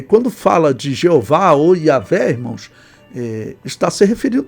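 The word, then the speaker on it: Yahweh: Yahé seria a pronúncia, eh, a melhor pronúncia, vamos assim colocar.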